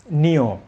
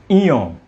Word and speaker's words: ঞ: এটাকে গ্রামাঞ্চলে বলেন, অনেকে বলে থাকেন যে নিয়। আসলে নিয় নয়, এটি হচ্ছে ইয়, বা শুদ্ধ উচ্চারণ করতে গেলে ইয়, ওবৎ উচ্চারিত ইয় নাসিক্য হবে।